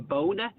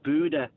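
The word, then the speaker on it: Bodø: following a team, but you keep going saying bona. It actually pronounced Buddha.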